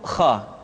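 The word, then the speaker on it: خ: Selanjutnya adalah huruf kha. Kha dikeluarkan dari pangkal tenggorokan. Kha, pangkal tenggorokan. Diucapkan dengan mengalir nafas. Atau lebih praktisnya, pengucapan huruf kha persis terdengar seperti orang yang tidur dalam keadaan mengorok.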